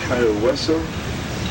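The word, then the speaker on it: Cayo Hueso: made such an impression the Spaniards called the island Kaio Wesso roughly bone island in the Spanish which we have supposedly mispronounced in the Key West since then.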